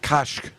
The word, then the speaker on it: Koch: I may be mispronouncing the name. It's Koch.